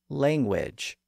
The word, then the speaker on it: language: after the G and since the letter U could still sometimes be pronounced as a w sound within English people started to pronounce the word that way and over the course of the Modern English period the word langage came to be pronounced as language and through that process